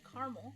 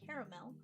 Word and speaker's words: caramel: The pronunciation of caramel varies, but generally North Americans often say caramel, 2 syllables, while East Coasters and Southerners might say caramel, and British English often use caramel or caramel.